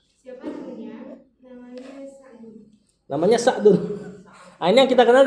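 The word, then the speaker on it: سعد: Namanya Sa'dun. Ah ini yang kita kenal dengan Saad ya. Saad. Saad bin Abi Waqqas. Ah begini bacanya. Sa'adu bnu Abi Waqqas.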